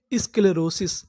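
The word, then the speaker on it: sclerosis: इसके लेरोसिस स्केलेरोसिस स्केलेरोसिस स्केलेरोसिस का मतलब होता है एक ऐसी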